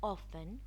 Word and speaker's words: often: G is not often pronounced when followed by N.